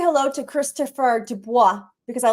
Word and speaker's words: Dubois: It's really it's not even supposed to be pronounced with a D. It's Dubois. That's how you really pronounce it.